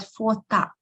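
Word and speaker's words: фото: We pronounce with letter R, and it sounds like feminine if I say fota. But we write letter O. So the gender depends on what we write, not how we pronounce.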